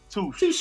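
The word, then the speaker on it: touché: Touche. Actually, it's how it's pronounced.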